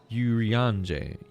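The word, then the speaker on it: Urianger: That's how they say it in British English anyway. Urianje.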